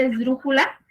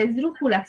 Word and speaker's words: esdrújula: Por ejemplo, la misma palabra esdrújula es una palabra esdrújula. Si yo la divido, esdrújula. Y si yo identifico la sílaba tónica, dice esdrújula. Su sílaba tónica es dru.